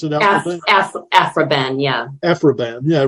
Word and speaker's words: Aphra Behn: Alpha Bane in the is that how you pronounce it afroban yeah afroban yeah right who was the first uh published